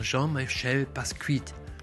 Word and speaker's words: Jean-Michel Basquiat: Und der Grafikstil ist nämlich komplett inspiriert von Jean-Michel Basquiat. Ich denke mal, da es ein französischer Künstler ist, dass das ungefähr die korrekte Aussprache sein wird.